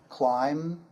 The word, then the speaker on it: climb: For example, climb, comb, thumb, and bomb. The B is silent there.